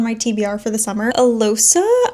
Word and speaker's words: Alosa: Alosa, I think is how you say the FMC's name, gets